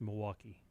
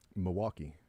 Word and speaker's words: Milwaukee: You know, but when I was in college, I dated a girl from Milwaukee and I was told you do not pronounce the L. It's just Milwaukee. Milwaukee.